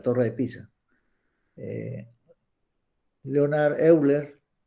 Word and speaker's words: Euler: de Pisa eh Leonard Euler o eiler también se le pronuncia eh era más eh